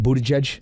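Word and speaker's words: Buttigieg: of a town say his name again pete buddha judge say one more time why am i not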